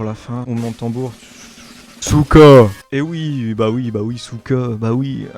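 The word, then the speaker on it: сука: Souka. Et oui, Souka, bah oui, je l'ai déjà dit dans la première vidéo, ça compte pas. Souka signifie pute, hein. Bah oui, pute. Souka. Cette injure se prononce souka et se traduit ainsi par chienne.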